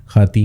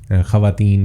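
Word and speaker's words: خواتین: है खाती होता है खवातीन की बजाय खाती होता है मतलब जब खे वाओ के बाद जब अलिफ आ जाए तो खे और अलिफ बोला जाता है वाओ आपका साइलेंट हो जाता है तो ये इस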